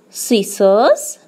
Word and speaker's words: scissors: Scenery, scissors, scent. You can see letter S has come before the silent C in each and every word given here.